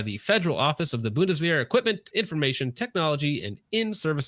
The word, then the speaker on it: Bundeswehr: Bundeswehr? Yeah. Bundeswehr recently selected the CZ P10F as their new standard issue sidearm after completion.